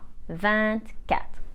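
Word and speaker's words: vingt-deux: or 3 for example the G is still silent but the T isn't silent anymore so we say vant cat and so on for 21 we literally translate 20 and 1.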